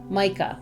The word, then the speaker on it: Meike: ago and then the year later I met Micah did I say it right good wonderful cuz